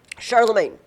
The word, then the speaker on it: Charlemagne: Although we don't usually say his name in English and therefore it doesn't we don't say the great. We say it in a French sounding word. Charlemagne.